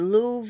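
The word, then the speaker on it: Louvre: me uh is it Lou and yeah it's uh it's spell they pronounce it Lou and Paris the museum l u v re I said you've got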